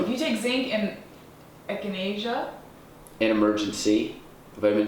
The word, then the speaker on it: echinacea: And China Sea tea. I don't know how to pronounce it, but Echinacea.